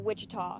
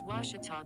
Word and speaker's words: Ouachita: at a baptist university back in texas everybody pronounces it wichita but really it's ouachita washington how would you pronounce it it's washita baptist university get it right it's washi tall